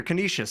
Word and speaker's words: Canisius: for a second CCC CC so much easier Canisius I said it right that time so we're